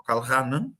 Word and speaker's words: Karl Rahner: No solo es políticamente incorrecto, es que el hecho de criticar a Karl Rahner, o Karl Rahner, pronunciado en alemán, te excluye inmediatamente de todos los circuitos culturales católicos.